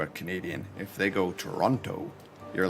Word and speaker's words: Toronto: Toronto. Or if you really want to mess them, pronounce the T. Toronto. And make everybody, every Canadian cringe.